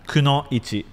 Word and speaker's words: kunoichi: Kunoichi.